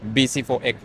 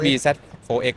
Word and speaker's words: bZ4X: ที พี่ ใช่ BC4X หรือ จะ อ่าน ว่า BZ4X ก็ ได้ ครับ แล้ว แต่ ว่า จะ เรียก แบบ ไหน ก็ คือ ปี